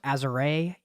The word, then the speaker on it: Azure: It's actually pronounced Azure.